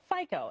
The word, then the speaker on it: FICO: much so i don't even know if i'm pronouncing her is it fico absolutely fico f-i-c-o but the ratings have a much bigger